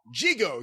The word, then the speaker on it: Gigot: Gigo, excuse me. Gigo. As portrayed by Jackie Gleason. See photos. In the 1962 major motion picture. That's what it says here. Very good. And that's Gigot is the way that's spelled.